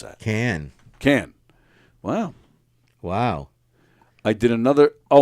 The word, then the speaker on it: Cannes: How do you pronounce that? Cannes.